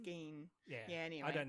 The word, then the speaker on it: Gein: That's involved Ed Gilm. Ed Gein, yes. Ed Gein? Ed Gilm? Gein? Oh, actually, I think it's pronounced Gein.